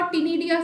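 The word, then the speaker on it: ctenidia: Pronunciation दोनों की same है, कंफ्यूज नहीं होना है.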